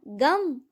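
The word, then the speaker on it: गं: गण के प्रथम शब्दांश ग का उच्चारण करने के बाद वर्णों के आदि अर्थात अ उच्चारण करें। उसके बाद अनुस्वार अर्थात म का उच्चारण करें। इसके बाद इसे अर्ध चंद्र से सुशोभित करें। इस प्रकार गम ओमकार से अवरुद्ध होने पर भी तुम्हारे बीज मंत्र का स्वरूप ओम गण बनता है।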